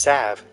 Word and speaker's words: salve: says Salve and salve I remember I got so much in college because I pronounced it that way and everyone's like no it's pronounced Sav age sign outside should